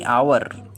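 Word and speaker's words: hour: सातवां वर्ड है आवर। इसके मायने होते हैं घंटा। इसका एच भी साइलेंट होता है। इसे हावर नहीं पढ़ा जाता है, इसे आवर पढ़ते हैं अलिफ से।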